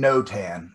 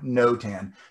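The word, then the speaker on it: notan: smaller size you're going to write values and no tan and again i'll explain what no tan is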